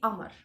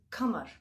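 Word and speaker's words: قمر: In Egypt, they don't say kamar. They eat sound k and they say amar. Okay, but what I understood in the original Arabic language, it's called kamar, which means moon.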